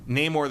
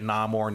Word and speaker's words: Namor: oh okay so because there's always been an argument over how you pronounce his name you neyar the Submariner is more or less how Stan Lee said it but you could say it namore Namor name or you all that stuff some somebody